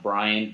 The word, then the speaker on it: Brayand: y a and d that is my first name Brian and it's pronounced Brian but once again B